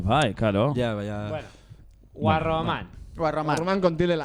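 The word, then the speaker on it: Guarromán: Guarroman, con acento en la última A, esan da. Guarroman. Aguda. Jesús María. Con acento porque acaba en N.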